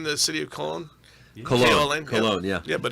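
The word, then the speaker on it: Köln: K-O-L-N, Yeah. Yeah, but it's spelled Koln.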